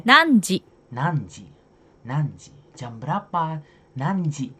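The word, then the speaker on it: 何時: itu kan cara Ayo cara bacanya adalah n di N N titik titik titik dan jawabannya adalah nan di sini nanji nanji nanji jam berapa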